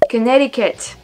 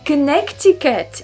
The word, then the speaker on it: Connecticut: make as English speaker I guess speakers maybe Connecticut I don't know why you you better a see in the middle of that word but you're not pronouncing it Connecticut in it's to be but no Connecticut I